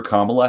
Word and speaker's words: Kamala: point, you're voting for Kamala Harris. Yeah. And if you don't want to be a bigot, you have to remember the word comma, because that's how you pronounce it.